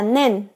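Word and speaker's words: 念: đang nhớ với em niệm này có cách đọc là nen nen trong gi nen gi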